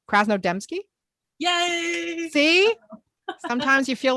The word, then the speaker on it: Krasnodemski: Krasnodemski.